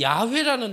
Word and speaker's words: 야훼: 이스라엘 백성들은이 성경을 읽다가도이 여호와가 그 나라의 발음으로 하면 야훼거든요 야훼 이 야훼라는 단어가 나오면은 그 자리에서